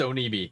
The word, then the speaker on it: Onibi: Yeah, it's Onibi.